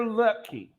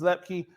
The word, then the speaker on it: Luepke: Two numbers, two words, number 44, Hunter Leupke. And excuse me if I'm pronouncing the name wrong, I believe it's Luepke.